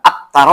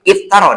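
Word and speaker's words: افترى: Kemudian surat Saba ayat 8, aftara 'alallah, ya. Jadi kalau dibaca bismillahirrahmanirrahim, tidak tapi iftara dibacanya, ya.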